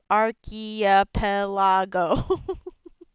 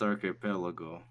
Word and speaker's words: archipelago: phantom occupier yeah see you pronounce it how it's written and i point to each letter and go archaea pelago it is pronounced archipelago potato potato a shrug